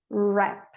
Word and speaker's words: wrap: O R fica, ó, right, wrist, wrap. O H, como português, às vezes ele é pronunciado, às vezes não, como na palavra hour e honest.